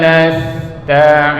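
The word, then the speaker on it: نستعين: Nasta'in. Ta-nya dihameskan. Ta ya. Huruf ta ini adalah makhraj hurufnya itu, ujung lidahnya dorong kedua gigi depan bagian atas ini. Jadi ta, dal, to. Itu makhraj hurufnya adalah ujung lidah ke pangkal gigi atas.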